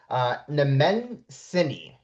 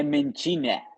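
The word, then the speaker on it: Nemenčinė: I'm pronouncing this wrong, Nemencini. Is that how you pronounce it? Nem, no, no, Nemenchine. Nemencine. Okay, Yeah, Nemencine. yeah, yeah. Nemencine. All right, here we Not go. Nemenchina, but Nemenchine. Nemencine.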